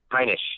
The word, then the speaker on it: Heinisch: So Ian, how do you pronounce his name, Caleb? Ian Heinisch? Heinisch.